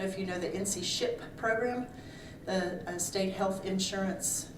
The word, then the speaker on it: SHIIP: They're called SHIP, but it's spelled SHIIP.